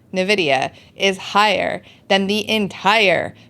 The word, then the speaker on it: Nvidia: single company how do you say that again Nvidia Nvidia is higher than the entire crypto industry combined